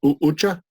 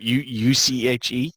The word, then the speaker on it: Uche: How do you pronounce the guy they took earlier in the 2nd round? Uche. Right? U-C-H-E. Uche.